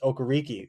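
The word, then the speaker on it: Okereke: not day ball uh also he pronounces okariki so maybe the kid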